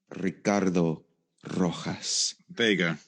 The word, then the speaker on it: Ricardo Rojas Vega: it properly all right let's hear it it's ricardo rojas vega there he is ricky ricky for short oh